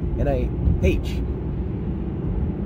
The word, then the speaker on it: NIH: There was some UK NIH, SH, NIH. I'm sorry, NIH study. You pronounce the H because it has an H in it, like herb.